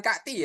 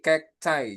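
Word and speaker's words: cacti: Kdus itu tetap kekus untuk jamaknya apakah kakti dibacanya bukan kakti ya. Heeh. Jadinya apa? Jadinya kek cai. Kek cay. Heeh. Jadinya itu kek cay teman-teman. Bukan kakti tapi kek cai jadinya.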